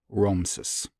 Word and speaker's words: Ramses: point in time, determine as being the best pronunciations, which would be Ramses.